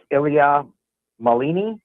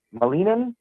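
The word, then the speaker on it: Ilia Malinin: to butcher it, but I believe it's pronounced Ilia Molini. Molinan and he is he's referred to as the quote unquote quad god.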